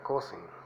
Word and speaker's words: cousin: cosing cousin bueno se escribe coaching y se pronuncia cousin Ok es primo luego tenemos netwo que es